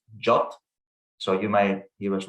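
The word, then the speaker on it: JWT: according to the specification json web tokens are pronounced jot so you may you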